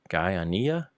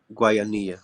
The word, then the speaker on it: Guayanilla: Guyana? Oh, Guayanilla.